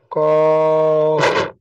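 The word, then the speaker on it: ك: উচ্চারণ করেন কাফ দেখেন এই যে কাফ অক্ষরে আপনাদের একটা জিনিস ভুল হচ্ছে হ্যাঁ কাফ এই যে বাতাস বের হবে শেষে বলেন মাশাল্লাহ ওকে এরপরে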